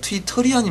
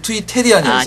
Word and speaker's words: 트위터리안: 이게 네 번째 할 때마다 지금 귀에 거슬렸는데 트위테리안이 맞습니까? 트위터리안이 맞습니까? 트위터리안. 네. 지금까지 계속 트위테리안이었어. 아, 죄송합니다. 3표 정도 날아간 것 같아요. 아니, 발음은 정확하신 분이 지금 네, 트위터리안. 따라해 보세요. 트위터리안.